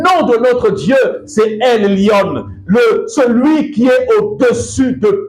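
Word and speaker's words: עליון: Le Très-Haut, c'est en hébreu, c'est Elyon. Certaines personnes vont peut-être prononcer d'une autre manière.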